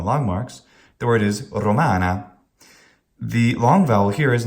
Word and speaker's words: Romana: Good Latin pronunciation retains the long vowel. It retains the long syllable.